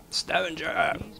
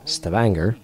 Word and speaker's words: Stavanger: The Luftwaffe has established important airfields at Trondheim, Hurdla, Stavanger, or Stavanger, as that's supposed to be pronounced.